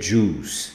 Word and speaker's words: juice: Pronuncia juice. Não fala o i, tá bom?